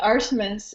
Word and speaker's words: Artemis: second names wrong oh my name is arsus and I never care about pronunciation good follow me whenever you want awesome